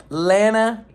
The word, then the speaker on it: Lana: I keep saying Lana, Lana, Allie. It's not. It's Lana Banana. Allie.